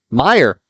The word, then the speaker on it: Mayer: Mayer for the two. That's good. 2 points from Mayer. Meyer. There we go. Listen in, and you get to hear the proper way to pronounce it.